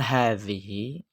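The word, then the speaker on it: هذه: Man hadhihi, siapa ini? Hadhihi, ha juga panjang. Ha yang pertama panjang. Ha sebelum zal. Ha setelah zal juga panjang.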